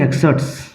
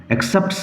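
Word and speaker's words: excerpt: দেওয়া আছে দেখো ফলোইং এক্সার উচ্চারণ লক্ষ্য করো এক্সার পল রিমেন সাইলেন্ট প এর উচ্চারণ হবে না এক্সেপ হবে না ফলোং এক্সার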